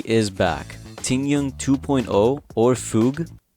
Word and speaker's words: Fugue: back tingyun 2.0 or fug apparently that's how you say her name is going to return